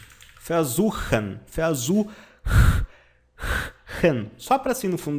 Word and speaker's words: versuchen: Onde versucht, tentou ou ter tentado, onde versucht é o passado perfeito do verbo versuchen. Vou colocar a pronúncia aqui, ó, versuchen, só para assim no fundo da garganta, ó.